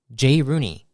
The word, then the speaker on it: Jay Rooney: general and to share what they are creating Jay Rooney that's how you're pronouncing your name correct that is correct thank